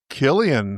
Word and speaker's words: Cillian: Killian, nice pronunciation.